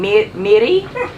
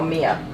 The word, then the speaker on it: Miri: the third one is how you say my name Miri Miri Miri awesome I thought it might be or something very similar or close probably still mispronouncing it but it's closer than mare or Mia laughs we're getting there